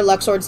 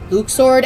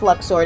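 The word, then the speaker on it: Luxord: until the third game so everyone's just been pronouncing Luxor like Luxor you know the proper way in my opinion yeah and then you finally hear his name pronounced and it's Luke sword and everyone including me went on our rants about this hard I hate it I hate it it's luck sword it will forever be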